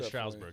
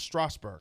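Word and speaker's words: Strasburg: at all stroudsburg strasbourg there's no u in it bryce harper steven straussberg strasberg stevens straussberg it's not a strowl there's no you in it it's strasbourg san diego state fine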